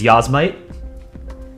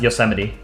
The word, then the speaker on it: Yosemite: Yeah, so the way that people will like intentionally mispronounce it is Yosemite, but it's pronounced Yosemite.